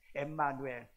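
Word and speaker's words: Ἐμμανουήλ: 임마누엘 히브리어에 임마누엘 임마누엘 이건 히브리어로 임마누엘이고 그 다음에 오늘 본문에 보면은 또 임마누엘이 일어났는데 여기는 원래 헬라어로 되어 있는데 이것은 엠마누엘이라고 되어 있습니다 엠마누엘 그래서 영어로 표기할 때는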